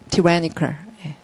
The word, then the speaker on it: tyrannical: 자, 소리는 tyrannical.